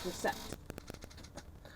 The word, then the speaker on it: receipt: Like a silent P in receipt. Receipt. It's recept.